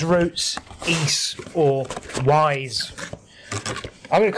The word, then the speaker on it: Ys: So yeah, this is back to its roots, Ys, or Wise. I'm going to call it Wise because I know that upsets everyone. It's not called Wise, it's called Ys, like fleece. It's called Wise.